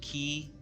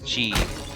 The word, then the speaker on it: qi: I think that's pronounced key. Chi.